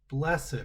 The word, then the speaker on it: blessed: Blessed are those who mourn. Blessed are the meek." And blessed is just a funny way of saying the word blessed. I don't know why we pronounce it that way.